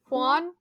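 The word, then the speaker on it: Huan: H do you know Hanan H I don't know yeah the the accent is on the a so we would pronounce the a specifically Hanan okay Aragorn sings three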